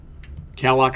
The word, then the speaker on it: calloc: Calloc is a little faster, malloc is a little cleaner.